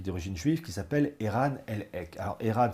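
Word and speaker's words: Elhaik: Et vous avez un généticien américain qui est d'origine juive qui s'appelle Eran Lek. Alors Eran s'écrit E R A N.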